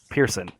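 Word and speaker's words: Persson: Minecraft was it Marcus it's Marcus Pearson Pearson so you you don't pronounce both s's or anything just um interesting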